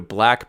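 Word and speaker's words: BLVCK: black coffee go to black brews calm that's BL vck that's that's how black is spelled BL vck brews dot-com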